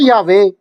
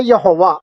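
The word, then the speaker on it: Yahweh: अब इसके दो प्रोनाउंसिएशन हैं। जो इब्रानी जबान से नावाकिफ लोग हैं वो उसे पढ़ते हैं यहोवा, और आज तक हमने यहोवा ही सुना है, हमारी बाइबल के अंदर भी लिखा है। हिब्रू में इसका जो प्रोनाउंसिएशन बनता है वो बनता है यावे, ठीक है।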